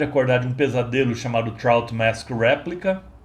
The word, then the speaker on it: Trout Mask Replica: na época eu falei eu pronunciei o nome do disco como truth mask replica mas na verdade é trout mask replica Eu sempre gosto de